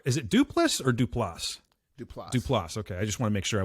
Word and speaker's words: Duplass: Duplass.